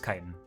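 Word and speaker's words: chitin: ] what are words looking this up kitan kitan it is kitan good to know would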